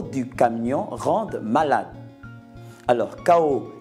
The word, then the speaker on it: chaos: camion rendent malade alors ko qui s'écrit avec C H a o s c'est une très c'est